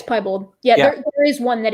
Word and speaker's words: piebald: How are you pronouncing it? Yeah, it's piebald.